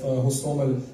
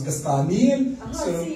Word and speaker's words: Hostomel: So, for example, the Ukrainian city of Sumy becomes Sumy, or the Ukrainian the town of Hostomel becomes Kastaniel.